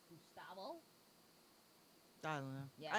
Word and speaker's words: Gustavo: G-U-S-T-A-V-O. Or I think it's pronounced Gustavo.